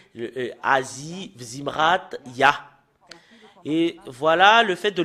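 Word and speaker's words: יה: Le fait de le prononcer, c'est Ya.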